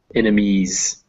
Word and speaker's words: enemies: And on enemies, make sure you get that Z sound. It's written in S, but it sounds like a Z in there.